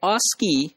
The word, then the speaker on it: ASCII: Interchange, that is called ASCII, and that is pronounced as ASCII. So that ASCII had 7 bits for information representation, and most significant bit was just 0.